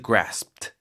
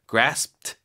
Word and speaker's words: grasped: 과거 그니까 과거형이 아닐 때는 grasp 그죠 Gras grasped Gras 해서 gas 할 때 프 하기 직전에 스톱해야 돼요 Gras 입 닫혀 있습니다 gr 그다음에 거기서 트 소리 내면 돼 돼 트 grasped grasped 힘든데 발음을 쉽게 가르쳐주는 진짜 미국 영어 오